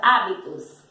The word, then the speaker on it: hábitos: Lembrando sempre que o H ele não tem som, que ao pronunciar uma palavra que inicia com H, nós só falamos o som da vogal.